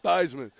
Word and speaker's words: Theismann: The German pronunciation is Theismann. He called himself Theismann. Raheel is not that. Because he wanted to rhyme. But he wanted to rhyme with Heisman.